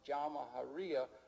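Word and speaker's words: Jamahiriya: You'll hear Colonel Gaddafi talk about the Jamahariya, pronounced Jamahariya, which roughly translates, in an Arabic term, which roughly translates out the state of the masses.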